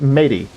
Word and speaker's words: mate: Yerba mate, pronounced matey. Now, if it was pronounced matey, it would have a Y at the end. It's pronounced mate.